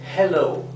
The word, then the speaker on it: hello: aquí la th bien hello como verán la h se pronuncia verdad como como exhalando no es totalmente muda déjalo goodbye sería adiós